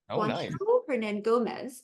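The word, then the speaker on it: Hernangómez: oh that is that is the actual pronunciation herand Gomez is I looked it up because I did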